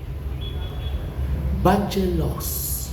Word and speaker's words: bachelor's: Bachelor's. Bachelor. Look at bachelor's degree, master's degree. So you must pronounce that S.